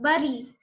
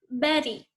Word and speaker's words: berry: It is not pronounced as bury. Its correct pronunciation is berry.